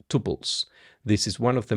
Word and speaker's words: tuple: Tuples are pronounced tuple, tuple, tuple. That's how I always heard people pronouncing them.